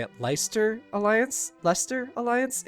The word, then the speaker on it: Leicester: how they say at leister Alliance Leicester alliance it's weird because it's pronounced totally different than it's written leister it should be like lie sister that there is an